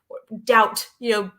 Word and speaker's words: doubt: And I was like, doubt, B is silent in doubt.